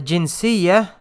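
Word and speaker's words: جنسية: long ago anta the jinsiya uh so this part right here if you are writing this it would end in a tam or butter right so you would pronounce it jinsiya but when you add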